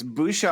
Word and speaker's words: Bouchard: You're pronouncing it like it's spelled, but forget that ch is a chard. It's a sh. Let's cut to the chase. Bouchard.